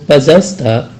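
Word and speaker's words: пожалуйста: Nah, dalam ucapan pazalsta, dalam tulisan pazalsta itu terdapat huruf O tulisannya ya, tapi tidak diucapkan O, tapi diucapkan A, maka ucapannya adalah pazalsta.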